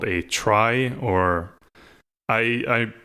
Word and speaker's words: trie: so yeah in retrieval it's still pronounced tree and therefore like it should be pronounced tree and - Yin but for the sake of actually making this somewhat clear I like I will pronounce a try for this podcast so this is the merkel pretty non binary prefix merkel try right spelt TR IE and an aetherium there